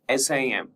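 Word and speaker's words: SIEM: Merging security information management that is SIM and security event management SEM and pronounced SIM with a silent E.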